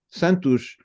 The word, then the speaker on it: Santos: It's just that the ush is very fast, but it's there. It's Santos. If I had to separate into different syllables, it would be Santos, right? But we say it fast, and so the last syllable is really short.